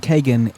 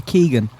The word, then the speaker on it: Kegan: it's kagan it's kagan the reason i'm saying kagan is because that's how his father pronounced it i used to say keegan the way it's spelt is keegan to also